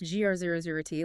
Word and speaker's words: GR00T: GR00T, like the character from the movies. It's spelled with 2 zeros, but yeah, that's the idea.